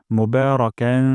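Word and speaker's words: مباركا: যায় তাইবান তাইয়েবান তাইয়েবান তারপর মোবারকান বা এখানে এক আলিফ টেনে পড়বো মুবারাকান এবং এখানে একটু না করবো ফি এখানে তিন আলিফ টা পড়বো ফি মোবারকান ফি রব্বানা ওয়ালাকাল হামদ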